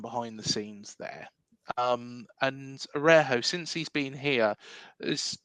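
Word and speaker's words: Araújo: Arejo. It's a silent J, supposedly. It's I thought it was a Araujo, isn't it?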